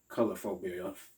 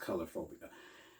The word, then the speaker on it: coulrophobia: like such as the color phobia fear of clowns that's how you pronounce it color phobia not um the other way around no so it's pronounced color phobia so people that have